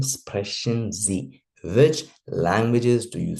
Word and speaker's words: Sprechen: This one, Sprachen and Sprechen. Sprachen, khan wala sound, that is particularly language. Sprechen wala sound, that is to speak.